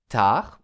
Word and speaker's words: tard: Je me couche, tard und tard heißt spät. Tard, das D wird nicht ausgesprochen.